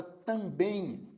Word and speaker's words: também: oxítona da mesma forma a palavra também é uma palavra oxítona Por que que é oxítona porque ela apresenta duas sílabas e a última sílaba é mais forte também e neste